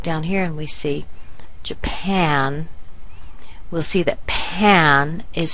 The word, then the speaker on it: Japan: the word very big now the second syllable that's where the big part comes we want to make that big the a here is the a like C or apple and so pan is our final syllable and we have Jan